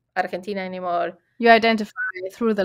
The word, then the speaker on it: Argentina: I will always say Argentina. No Argentine, no Argentine. It's Argentina. It's how we pronounce it.